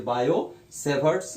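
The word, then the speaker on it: Biot-Savart's: यहाँ पे T silent है, ये वाला टी साइलेंट है, इसलिए बायो-सेवर्ट्स लॉ। बायो और सेवर्ट्स ने क्या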